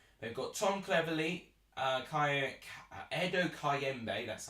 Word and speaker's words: Kayembe: They've got Tom Cleverley, Edo Kayembe, that's how you say his name.